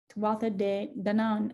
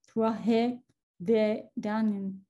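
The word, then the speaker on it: Tuatha Dé Danann: The Old Irish pronunciation is Tuatha De Dannan, and the modern Irish pronunciation, Tuatha De Dannan.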